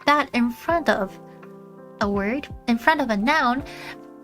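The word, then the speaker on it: を: Um the first that um super blast son has typed out apparently used to be pronounced wo. Some people still pronounce it wo. I pronounce it wo.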